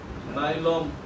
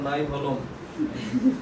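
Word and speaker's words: Nyholm: দেখো লেখো লেখো 1957 সালে বিজ্ঞানী গিলেস্পি বানান গিলেস্পি এবং নাইলম, আর এমন করো না, নাই হলম, ওই ভ উচ্চারণ হয় না, হ্যাঁ, নাইলম হালকা করে হয়, সোয়া দিয়ে চলে যাবে।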